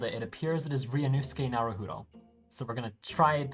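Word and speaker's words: Ryunosuke Naruhodo: okay having Googled it it appears it is ranus narudo so we're going to try that ranus I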